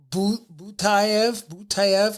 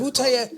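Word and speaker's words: Butaev: Butayev, and Yes, Butayev.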